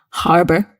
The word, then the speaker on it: harbor: You must pronounce the h, harbor.